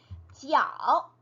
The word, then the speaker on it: 角: 일단 소수점 이상 왠지 수학으로 치면 자연수일 텐데 어쨌든 그것을 읽을 때 우리가 yuan이라고 읽어줄 수 있고요. 네, 소수점 첫 번째 자리, 角.